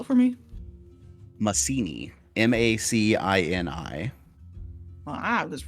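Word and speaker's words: Macini: was the name of that Port town again spell it for me Masini m-a-c-i-n-i well I was right not like legitimately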